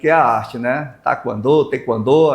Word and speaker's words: taekwondo: Tequando. As pessoas meio raramente fala tequandô. É mais taquando, né? Mas a pronúncia certa mesmo é te quando tá?